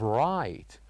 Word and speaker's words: right: And we have right, where G and H are silent.